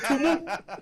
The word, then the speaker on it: Tumu: It is Tumu. There is no R there. It's Tumu. There's no R.